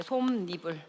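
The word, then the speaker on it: 솜이불: 솜 니불이라고 발음해야 돼. 솜니불.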